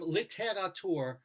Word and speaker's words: Littérature: Well, the founders of Littérature magazine on this date were Littérature, literature, but they have an accent on the E.